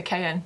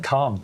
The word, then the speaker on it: Caen: Matt corrected me on this. I used to say it wrong. And he's been there. You say Cayenne? He's been, he's been to this place. Caen, yeah. Anemone de Caen.